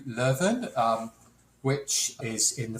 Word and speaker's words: Leuven: get it correct okay yes so it's ku levin um which is in